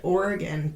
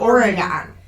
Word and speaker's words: Oregon: We're going to go to the other side of the country today, to Portland, Oregon, depending on, of course, what side of the country you reside.